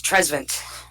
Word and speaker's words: Trezevant: no, it's Trezvant. Oh. Trezvant. Tres Savant? No, Trezvant. Give it the French pronunciation. Like, it's Trezvnt. There's no vowel there.